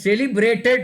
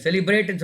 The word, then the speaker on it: celebrated: நோ, you have swallowed that word, so that you have to pronounce it properly. Then celebrated அப்படின்னு சொல்லணும். நீங்கள் என்ன சொன்னீங்க? செலிப்ரேட்னு சொன்னீங்களா?